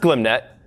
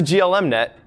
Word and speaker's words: glmnet: everything so first up glim net yes it's pronounced glim net i used to pronounce the GLM net then it got a lunch with the author